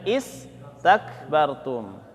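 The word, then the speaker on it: استكبرتم: Jadi bacanya kalau sendirian bacanya istakbartum. Tapi kalau disambung anfusukumustakbartum.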